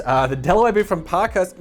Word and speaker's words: Parkhurst: delaware boot from parkhurst sounds ridiculous for my accent it's park hearst is how i would be pronouncing that if i had a better accent uh the delaware booth from parker's not many people know